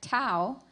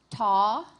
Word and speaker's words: tau: Tau, taw, tav. One That's more three time. pronunciations. Tau, taw, tav. Tov. T-O. P-H. Incorrect. Competitor 138, Ryan. Your word has three pronunciations. Tau, taw, tav.